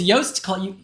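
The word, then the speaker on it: Joost: what I love is yast roast rhymes with roast it's yast yast Klein don't roast yast I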